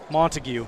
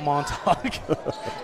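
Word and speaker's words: Montague: monog 11 second goodness I've been pronouncing his name wrong all game based off FPA montigue not monog that does sound better Hoffman has it he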